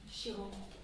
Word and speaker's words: Chiron: Après, vous avez Chiron, qui s'écrit C-H-I-R-O-N. Je crois qu'il n'est pas là-dedans, Chiron. Non. C-H-I-R-O-N. Chiron. Chiron.